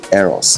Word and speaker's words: Eros: It's pronounced Eros, meaning house of Eros.